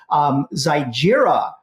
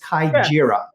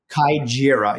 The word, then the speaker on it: Kaijira: Zygira, number 13. Oh, no, wait a minute. I did a story on this horse today. The pronunciation is Kaijira. Kaijira, yes.